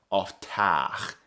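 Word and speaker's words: ofteah: English orthography, this E-A diphthong makes the A sound. It does not make the ea sound, except in very rare cases. It almost always makes the A sound. Oftach is how this word is pronounced.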